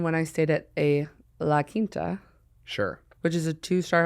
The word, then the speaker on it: La Quinta: Am I saying it right? Yeah. Okay, good. It's actually beautiful pronunciation. La Quinta.